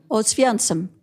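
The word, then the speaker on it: Oświęcim: Oswiecim, which is the actual Polish name for the town that the Germans called Auschwitz.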